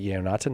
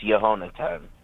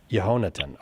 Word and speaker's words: Yehonatan: No, it's Yehonatan. Yehonatan. Okay, I beg your pardon. Accent It's on the yeah. Accent was on the ho, the way he said it. Yehonatan. Oh, I bet. Yes, you're right. So accent on the antepenult.